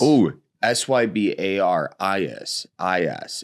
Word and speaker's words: Sybaris: Oh, Sybaris. It's almost like a Polaris. It's almost a mix between syphilis and Polaris.